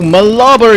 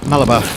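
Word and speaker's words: Mlaba: fight mate bye-bye o malaba is in in uh malaba how do how do I pronounce that malaba or malaba Mala I think Mala yeah that's good Mala has picked up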